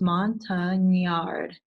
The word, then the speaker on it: Montagnard: it out it is a French word and it's Mon tongue in the yard so that last part